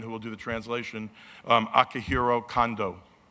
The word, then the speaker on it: Akihiro Kondo: making his US debut I pronounce his name earlier incorrectly because I was thinking of my good friend Akihito Honda who's like the king of boxing in Japan everyone knows mr. Honda but Akihiro Kondo is an accomplished writer